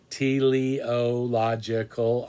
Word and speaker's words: teleological: call it the teliological it's spelled the way it sounds tiliological argument that you can